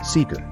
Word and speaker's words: SKR: At the core of its system are Telodine Fleer's proprietary technologies, Prism Supervisor and Prism SKR, pronounced Seeker.